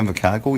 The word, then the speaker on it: Invercargill: Going through these, life's tough when you're living on the streets, particularly the hellish inner city streets of Invercargill. Am I pronouncing that correctly? Yeah, Invercargill.